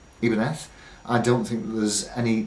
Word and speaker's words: Ibanez: talk to you about for a few seconds ivanez as we all call it in the western speaking world the correct pronunciation is in fact ebenef which is because originally the name came from